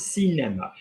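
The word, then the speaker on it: cinéma: How am I going to pronounce that? I'm going to pronounce cinema because there's a, am I above the line on the E? Yes, cinema. Am I saying cinema or cinema? It's faster because it's the short one.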